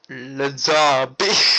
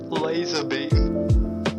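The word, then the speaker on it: Lazarbeam: is it Lazar beam yeah but it's not pronounced Lazar beam what do you mean it's not pronounced Lazar beam I must have been pronouncing his name wrong this whole time it's pronounced laser beam wait what are you serious it's pronounced laser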